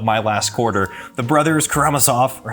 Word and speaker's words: Karamazov: last quarter the brothers karamasov or how do you say it we this is the debate is it karamasov or karamasov let us know in the comments they told me karamazov for like two and